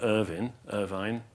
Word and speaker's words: Irvine: Aha, The Moments of Insight That Shape Our World, by the philosopher William Irvine, and Irvin, I think, actually, he pronounces it.